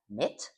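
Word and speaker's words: MİT: In Turkey, it is pronounced as MIT.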